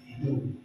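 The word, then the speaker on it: ἰδού: Kata ketahuilah ini dari kata bacanya Ido ya. Ido idu. Idu bukan bahasa Batak ini ya.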